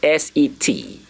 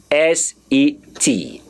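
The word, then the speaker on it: sept: there is silent a don't pronounce the P so pretend as if you don't see the P there and so the pronunciation you're gonna have is s-e-t the pronunciation you're going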